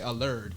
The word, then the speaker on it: Allured: Allured Gems. Allured Gems. Yeah, Allured Gem. How do you say it? Like, cause I say allured. Yeah, it's Allured Gems. Allured Gems. Yeah, like lure.